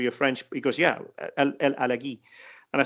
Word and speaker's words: El Alagui: I said, I hear everybody saying El Alagoui. He said, no, El Alagui.